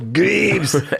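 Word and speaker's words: Greaves: He's is it Griev? He's like, "No, it's Greavves."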